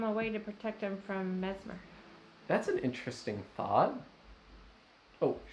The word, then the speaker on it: Messmer: So Mesmer has some other kind of... Are you saying Mesmer? How are you pronouncing it? I'm saying Mesmer. Mesmer? Okay. It's spelled so seemingly Messmer. Okay, so Mesmer.